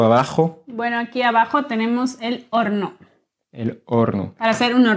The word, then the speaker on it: horno: Le four ici, on dit el horno. Y lleva una H. Sí, exactamente. Se escribe con H.